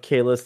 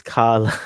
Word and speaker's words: Kahless: existed throughout this episode the name of Kahless The Unforgettable was mispronounced as kala a mission report for